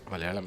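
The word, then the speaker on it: Malayalam: Mallayalam. It's a palendrome. Spell it back.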